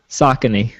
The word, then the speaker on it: Saucony: veto how do you pronounce how do you pronounce uh sakoni shoes saucony you're correct i don't know but i have